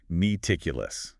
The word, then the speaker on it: meticulous: Next is meticulous. M T I C U L O U S. Meticulous. Four syllables stress on the second like ciruitous.